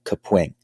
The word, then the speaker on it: Kapwing: the go was to use a software called kapwing it's spelled like cap Wing but with the K